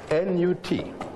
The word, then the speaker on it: Nut: How do you spell that? N-U-T. Pronounced Nut.